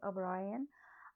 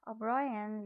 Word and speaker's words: O'Brien: upon it up ryan looked yes the correct pronunciation of this name is o'brien o'brien looked at the childish scroll a scroll means